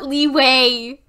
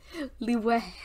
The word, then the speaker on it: Liyue: Liyue. Not Liyue. Liyue.